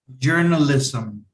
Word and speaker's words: journalism: Journalism. Journalism. Okay. Some. Even though you have an S and M, at the end that you have a pronunciation some.